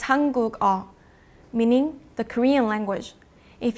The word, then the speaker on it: 한국어: that has a 받침, the 받침 기억 would replace the 이응. Now 2 things happen. First, the last syllable now starts with a consonant sound instead of a vowel sound, from a to go. The sound that this 기억 makes changes from a K to a G sound because it's moving from